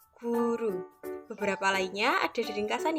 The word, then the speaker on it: goero: dari ejaan Suandi adalah huruf oe menjadi u seperti penulisannya goero tapi dibacanya menjadi guru beberapa lainnya ada di